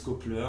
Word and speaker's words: Copler: Voilà, Donc, Kopler, comme ça se prononce.